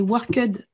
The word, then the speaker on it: worked: numéro 8, yesterday I worked very late. Et ça, c'est possible, on l'entend, worked, parce qu'on ne sait pas trop quoi faire du ED, comment le prononcer.